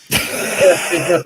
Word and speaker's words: Maginot: Yes, I do know how to pronounce it. Maginot line.